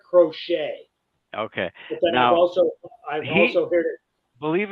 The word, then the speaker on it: Crochet: what's that guy's name is it crochet or croquet or whatever I've heard him pronounce it Garrett crochet okay also I've also